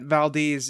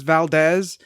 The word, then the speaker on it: Valdez: was i said as Valdez in parentheses they spell the pronunciation and it's they spell it v al - Dez exactly exactly so